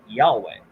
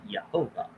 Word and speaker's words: Yehovah: And you don't pronounce it Yahweh. You pronounce it Yehovah, come to find out.